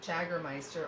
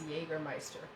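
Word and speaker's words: Jägermeister: a really nice digestive called jaggermeister or i think maybe the pronunciation is jagermeister and it's got like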